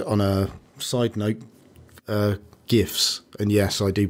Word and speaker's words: GIF: Hallelujah um and on a side note uh gifs and yes I do pronounce it gif I don't call my GPU